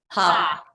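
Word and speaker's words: ה: Ha. Ha, with a hey with a patach, ha. Or if you're writing it phonetically, H-A.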